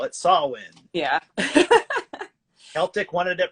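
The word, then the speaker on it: Samhain: are like oh it's sam hayne i'm like the original pronunciation for it is sawin if you see and trick or treat they call it sawin yeah celtic wanted it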